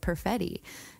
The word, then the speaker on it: Perfetti: It rhymes with spaghetti.